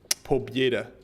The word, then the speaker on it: Pobeda: Thank you for the pobeda. Pobieda. Actually, I think is how it's better pronounced.